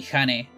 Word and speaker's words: Jane: Or, you know, like, some people actually call me, don't call me Jane, they call me Hane. Because that's how you would pronounce it exactly in Spanish.